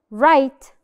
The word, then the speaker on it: write: Write. Write. زي الرول اللي قلناها. When the W is followed by R, which letter is silent? Perfect. The W is silent.